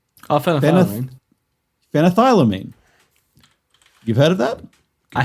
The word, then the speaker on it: phenethylamine: And everything I looked up to pronounce this didn't pronounce this right. So phenethylamine. Oh, phenethylamine. Phenethylamine.